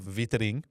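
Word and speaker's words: Weitering: This was given one week for a body blow to Jacob Viting as his name is actually pronounced.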